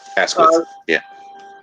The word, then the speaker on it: Asquith: Asquith, is that how you pronounce his name, by the way? Yes, Asquith.